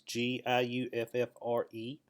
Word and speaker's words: Giuffre: All right, so on the earlier video, I missed a point with this Victoria Roberts Giuffre, or however you spell her last or pronounce her last name. It's Giuffre.